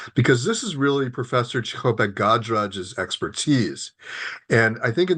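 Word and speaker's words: Cichopek-Gajraj: Anya's last name is actually Chichopek Gadraj.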